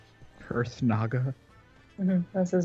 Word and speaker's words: Kurthnaga: Kurthnaga? Kurthnaga?